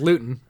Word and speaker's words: Luton: they're the jags and jake lewton or luton or luton however you pronounce it it's luton i mean four picks